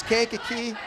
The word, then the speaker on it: Kankakee: I will get it it's Kankakee and I am sorry can't keep fans if I have called your team name wrong a couple times tonight